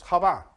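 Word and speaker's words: חוה: Eve in Hebrew is Hava.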